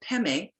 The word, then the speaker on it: padme: money is Jewel Padme the way it's spelled p-a-d-m-e but the Tibetans pronounce it pemi is lotus pong is